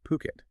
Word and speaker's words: Phuket: Today, we're taking a deep dive into the fascinating world of property in Fuket and remember that's ph u k pronounced puket.